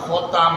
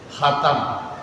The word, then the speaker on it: khotam: Artinya kalau orang baca Quran khotam selesai. Cuma lidah Indonesia nggak mau baca khotam, baca apa? Hatam, hataman, nggak ada hataman itu. Yang ada apa? Khotaman.